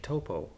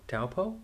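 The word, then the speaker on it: Taupō: are heading down to Lake Topo taupo toppo I've been told I'm saying it wrong but we are going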